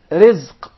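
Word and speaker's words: رزق: Rizq. Rizq. Rizq. Did you notice here the ra is very soft and light?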